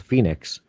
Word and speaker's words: Foenix: The Commodore, or not the Commodore, but the C256 Phoenix, and that's spelled Foenix.